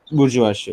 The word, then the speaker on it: bourgeoisie: bourgeoisie. Okay. That's how it's pronounced.